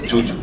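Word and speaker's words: Zhu Zhu: she's it's written as it's written as zuu but she pronounces it as Juju yeah whatever I mean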